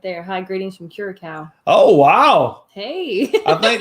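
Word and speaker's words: Curaçao: it's probably way wrong curacao that's right that's how you say it curacao is where andrew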